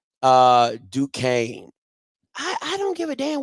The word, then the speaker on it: Duquesne: That's how random that's Duscany. I'm just pronouncing what it looked like. Duquesne. That listen, it's a lot of letters in there that don't come up with Duquesne.